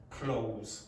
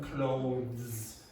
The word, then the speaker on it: clothes: Generally what an English native speaker will say is close like close the door instead of clothes. It's it's even hard for a native speaker. So we don't generally do it. We'll just say clothes.